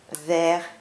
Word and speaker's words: ver: Donc ces quatre mots, vers, vers, vers et vers, ont le même son, on les prononce de la même manière, mais ils ont complètement des sens différents.